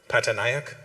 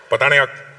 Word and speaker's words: Patanayak: Patanayak. Say it properly. Not patanayak. Pataniac.